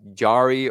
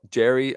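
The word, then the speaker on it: Jarry: Vena Nori fourth round Yari or Jerry apparently I'm saying it wrong Jerry or bz like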